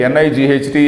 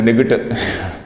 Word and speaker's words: night: And nichte, N-I-G-H-T is again, what is N-I-G-H-T? If you pronounce G and H, it becomes a nigit. So because all those letters are silent, we are pronouncing it as night.